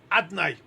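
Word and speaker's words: אדני: It's written Yud Kei Vav Kei. But we pronounce it Adnai, Adoi, and then Noi at the end.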